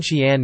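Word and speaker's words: chienne: Doubling a final n and adding a silent e at the end of a word, e.g., chien chien, makes it clearly pronounced.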